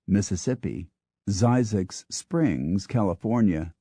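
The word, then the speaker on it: Zzyzx: Skillet Texas sweet gumhead Louisiana why not Mississippi zyx Springs California spelled ZZ yzx cold ass creek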